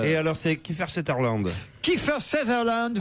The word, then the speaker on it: Kiefer Sutherland: Kiefer Sutherland, Ah, c'est comme ça qu'on prononce.